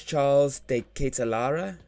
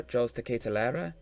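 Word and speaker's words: Charles De Ketelaere: I think it's Charles de Ketelara, or Charles de Ketelara, I think is how you pronounce it.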